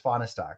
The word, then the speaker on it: Fonistock: That's exactly how you say it. It's Fonistock. So, Doc, mark your calendar.